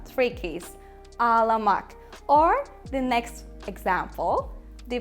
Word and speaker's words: ağlamak: And you need to pronounce a like softer, longer, or like a double sound, we can say.